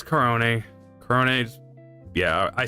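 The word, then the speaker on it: Korone: Aruren Arunu and then Corone. It's Corone.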